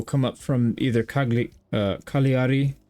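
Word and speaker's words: Cagliari: up from either uh kaliari somebody said the g is silent I did not realize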